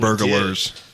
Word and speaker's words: burglars: You said Yeah, we burglars. Burglars. You added an extra syllable in there. Yeah, you put like an E in there or something.